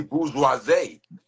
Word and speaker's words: bourgeoisie: Bougie is like the ghetto way that we watered down to pronounce it. It's Yeah. really bourgeoisie. Oh, bourgeoisie.